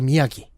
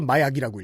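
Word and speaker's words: Miyagi: 미스터 미야기. 가라테 키드. 그것도 못 읽어서 마야기라고 읽어요.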